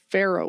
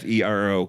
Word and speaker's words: Ferro: Pharaoh Lad, Pharaoh, like iron. I was thinking like the grain. No, Pharaoh. Be a Pharaoh Lad. That's his. It's spelled Farro, isn't it? No, it's Ferro. Fe. Ferro, kind of like.